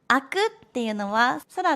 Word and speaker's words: 空: Khi đọc bằng tiếng Nhật, từ này được đọc là "sora".